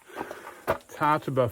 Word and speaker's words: Tjaetaba: bet all right so TARTA Falls pretty sure the J's silent hang on I'll swing